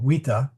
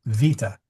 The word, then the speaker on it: vita: and the way well wea is what Caesar would have said but we say vita so um you will